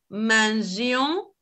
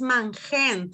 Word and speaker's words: mangeons: Solamente que los verbos que tienen la G en el nu le dejamos la letra E para que se pronuncie mangeon.